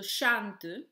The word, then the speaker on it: chante: Then the syllable tu, so chante, in this word chan is the stressed syllable, tu is unstressed.